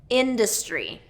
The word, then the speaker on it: industry: So this is a good one for those short I vowels. Industry. And it's kind of a combination between dis, we can do industry and industry. I've heard it both ways. Industry, but sometimes it's reduced to industry.